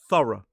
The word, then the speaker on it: thorough: This word has two syllables, stress on the first. The adverb form has three syllables, still stress on the first. This time that o u g h is pronounced uh it's a schwa. It is an unstressed vowel sound because it's in the unstressed syllable. Uh it's the same sound we see in the second syllable of water, doctor, or teacher.